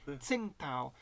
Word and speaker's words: Tsingtao: that name it since I learned how it's pronounced Tsingtao since i i i always loved Tim pal